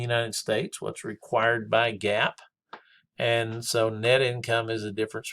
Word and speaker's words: GAAP: Of course, we refer to that as GAAP, G-A-A-P, but pronounced GAAP.